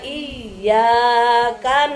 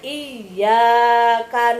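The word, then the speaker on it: إِيَّاكَ: Kalau ya-nya dipakai tasydid, dibacanya iyyaka na'budu, hanya kepada Engkaulah ya Allah kami menyembah. Tapi kalau ya-nya tidak dipakai tasydid, kita tidak teliti, iyyaka na'budu wa iyyaka nasta'in, hanya kepada mataharilah aku menyembah dan hanya kepada mataharilah aku memohon pertolongan.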